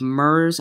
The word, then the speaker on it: murre: the largest colony of MERS on the continent so that is today's bird the name is spelled c om m and M you are ar e common mer now I know what some